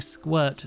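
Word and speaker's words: Sq'irk: You're not the first person, nor probably the last person to think I'm saying squirt juice instead of squirt juice. Oh no. Squirt. It's spelled sq uh apostrophe i k.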